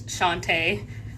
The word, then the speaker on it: Shante: um I'm Shantae that is how you pronounce it is Shantae um and then I'm the author of living